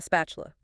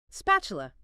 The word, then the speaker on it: spatula: A spatula. Spatula. That's it. And yeah, sometimes that t sound gets a bit soft, almost like chi.